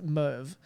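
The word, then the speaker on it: Merwe: ian roberts and driver alan van vander merv is how his last name has said it's spelled m-e-r-w-e but it's a move so credit to them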